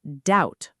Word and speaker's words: doubt: Same pattern, silent B. It's doubt, rhyming with out.